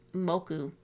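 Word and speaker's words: 木: The kanji for tree, pronounced moku.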